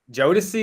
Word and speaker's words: Jodeci: Jodeci, is that how you say it?